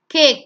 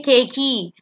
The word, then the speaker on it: cake: you don't see usually when a word ends with e we do not um pronounce the e word Place cake you don't say kakei you don't say myy